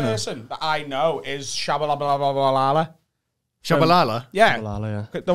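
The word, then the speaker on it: Tshabalala: No, but what's, how did you pronounce Shabalala. It? Shabalala. It's like Bananarama.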